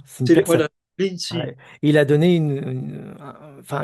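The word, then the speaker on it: Linji: voilà, Lincy, Ouais. Il a donné enfin, une école après. voilà. Voilà. C'est-à-dire Lincy, c'est le nom chinois, Rinzai, c'est la prononciation japonaise d'un courant.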